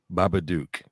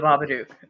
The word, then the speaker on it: Babadook: said that 2014 i don't know how to pronounce his name baba duke oh the babadook yeah that's an australian movie 1935 you you